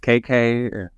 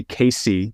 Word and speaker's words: K Cay: gotten a lot of people say casy they go casy they go casay they just go k